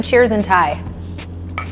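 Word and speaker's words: ไชโย: Chayo.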